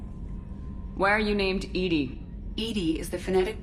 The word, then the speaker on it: EDI: a specific inquiry why are you named Edie Edie is the phonetic pronunciation of EB I that is an acronym for intense defense intelligence how are you getting along with Joker mr.